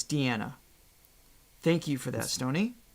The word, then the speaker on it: Diana: just for the sake of her name is pronounced da was I saying Diana I probably was Diana so it's Diana thank you for that stony yeah thank you